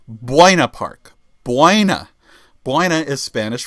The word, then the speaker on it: Buena: To this day, George can't pronounce it correctly. The the city that I grew up in, George, it's called Buina Park.